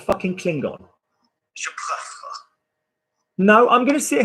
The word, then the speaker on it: préfère: Préférer, préfère. Imagine that you get rid of the last syllable. So préfère is Klingon.